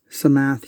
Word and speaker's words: Samath: see how well uh some math here that's how you pronounce that um hand receives his